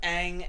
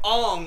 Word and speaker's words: Aang: So, the whole movie they call him Ong instead of Aang.